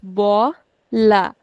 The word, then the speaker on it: bola: This one has two syllables, bo, la. We'll put stress on the second last.